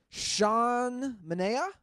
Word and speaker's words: Sean Manaea: How's this guy's name pronounced with the no-hitter? Sean Manea?